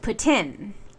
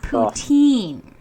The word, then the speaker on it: poutine: But if it's a French word, it should be pronounced properly in French. Now, if you don't want to give it the French accent, then you can say just putin, but it's not poutine.